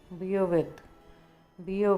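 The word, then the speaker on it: bear: जिम्मेदार होना, answer for, मांग लेना, आस्क फॉर, सेवा सत्कार करना, अटेंड ऑन, बर्दाश्त करना, बियर विद, आर इसमें साइलेंट होता है, बियर बोलते हैं इसको, बियर नहीं बोलते हैं।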